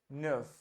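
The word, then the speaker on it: neuf: say n n n wherever you have EU you have to round your lips and you have to say uh Nerf Nerf it might be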